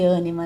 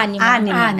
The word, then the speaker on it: Ânima: Olha, é ânima mesmo que fala. Anima. É, tem um assentinho ali, mas às vezes pela própria pronúncia acaba saindo ânima.